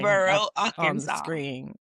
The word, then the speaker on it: Murfreesboro: Murphy's. No, it's Murfreesboro. 3 words? No, it's all one word.